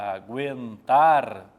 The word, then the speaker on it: aguentar: Agora, se eu coloco aguentar, já não é mais dígrafo. Gueto é dígrafo. Aguentar não, porque o U é pronunciado.